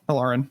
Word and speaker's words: Elarin: And then tell us a little bit about the main character, Elarin. Is that how it's pronounced? Yeah, Elarin. That's how I pronounce it. The reader, Amy Roxon, she pronounced it that way too.